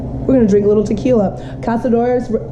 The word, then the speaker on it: Cazadores: poor decision and we're gonna drink little tequila Cazadores Cazadores Reposado my boyfriend hates it when I always